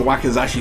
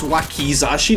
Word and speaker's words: wakizashi: super pretty on the wakazashi sword and funny thing is i keep feeling like i pronounce wakazashi's super wrong dude like if you actually look at the spelling it's wakizashi no wakazashi and i say wakazashi a